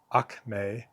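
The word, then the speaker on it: ἀκμή: It's also the root behind Greek akme. Akme root accent is on the second syllable there. Uh which is the acme, right?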